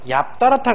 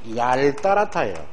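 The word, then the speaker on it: 얄따랗다: 넙직하다, 얍따라타가 아니고 이쪽은 앞쪽입니다. 이렇게 앞쪽, 원래대로.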